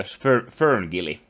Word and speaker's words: FernGully: that he has been a part of the Ferngully. How do you pronounce it? Oh yeah. Yes, Ferngully.